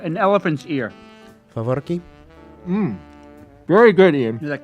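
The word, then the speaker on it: faworki: Favorki. Very good, Ian. Is that carnival Excellent snack?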